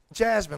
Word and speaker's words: Jazmine: Jasmine, like the princess from Aladdin. Yeah, there you go. Yeah. It's spelled differently, though. Well, that Yeah. Spelled with a Z. but when you spell it differently, does it sound different when you say it? No, but it just Okay, looks cool.